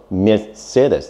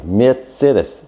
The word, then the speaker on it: Mercedes: It's called Mercedes. Yeah. Mercedes. Benz. But most people should call it Mercedes. That is supposedly the correct German pronunciation.